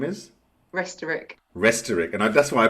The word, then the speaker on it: Restorick: Restorick.